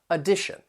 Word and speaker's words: addition: sound that uh sound the tion is pronounced as shun and the syllable stress comes before it on the second syllable addition if we're talking about